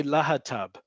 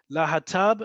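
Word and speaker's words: להטב: And this one we do pronounce, we say la hatav. La hatav stands for lesbit, homosexuali, trans, bisexuali.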